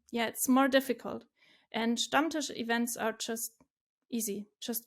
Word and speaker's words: Stammtisch: Stammtisch. Stammtisch.